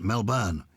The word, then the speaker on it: Melbourne: We've been listening to your podcast for some time here in Melbourne, pronounced Melbourne.